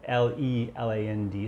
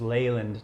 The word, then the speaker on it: Leland: right john leland leyland l-e-l-a-n-d so it's leyland not leland so it's just like